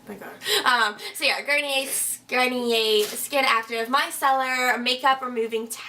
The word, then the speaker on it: Garnier: So this is the Garnier. I always want to pronounce it Garnier. Whatever, my sister's like, it's French. French? It's French, right? My God. So yeah, Garnier Skin Active Micellar Makeup Removing Towelettes.